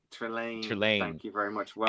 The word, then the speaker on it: Trelane: The the um Trilani is the Harry Potter professor. Um, I knew I said it right. Trelain. Thank you very much. Well, and again, we don't know he's Trelane.